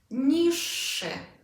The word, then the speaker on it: niższy: Can you hear the double consonant sound in the middle? Niższy.